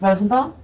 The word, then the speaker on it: Rosenbaum: Superman, and Susan as Wonder Woman, Michael, I'm pronouncing that right? Rosenbaum?